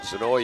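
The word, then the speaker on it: Znoj: And Zanoy is the correct pronunciation. I asked him.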